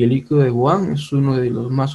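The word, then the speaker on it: Bouin: es el líquido de boan boan se pronuncia pero se escribe boí eh algunos tipos de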